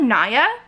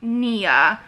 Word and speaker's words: Nya: i think it's like Nia so even though it's N-Y-A i think it's pronounced more like what i in my